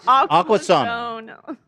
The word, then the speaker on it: Aquasana: Aquazone, if you pronounce it like. No, No. Zana. S-A-N-A. Aquasana.